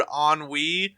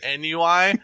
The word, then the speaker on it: ennui: Cause like, I don't know if listeners will remember, but I mispronounced something probably 3 years ago, and it was the word ennui, and I pronounced it NUI, and John fucking shredded me.